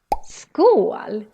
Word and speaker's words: skål: Skål. Skål is how we say cheers in Swedish. Skål. But what does it actually mean? This is what it really means. Skål.